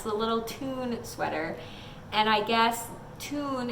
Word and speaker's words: Thun: the little fun and then in parentheses says pronounced - t oon so I was like hey guys it's the little tune sweater and I guess tune is the name